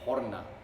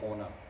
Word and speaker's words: Horna: of all time and that is Horna I think that's the Finnish way to pronounce it which means hell or Abyss but um you can imagine like that's the Finnish pronunciation Finnish is a difficult